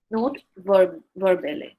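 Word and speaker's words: note verbale: It is note verbally. That's how it's said.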